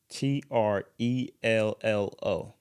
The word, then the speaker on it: Trello: game on the giz wait how do you spell it t r e l l o Trello Trello yeah I don't even know TR